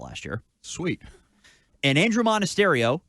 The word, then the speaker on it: Monasterio: And Andrew Monasterio, who you just learned how to say the name of today before we went on the air. Yes, it is said how it's spelled.